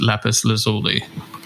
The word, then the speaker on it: Lapis Lazuli: label, on your own imprint, um which is Lapis Lazuli. Is that correct? Yes. Yeah. Firstly, did I pronounce it correctly?